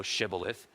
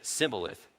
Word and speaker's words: Shibboleth: Then they would say to him, Say now, Shibboleth. But he said, Sibboleth, for he could not pronounce it correctly.